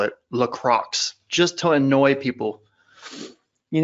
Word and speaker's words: LaCroix: you as long as you mix them with LaCroix or as I like to call it Lacroix just to annoy people you know that's actually pronounced Lacroix is it well I pronounce it Lacroix just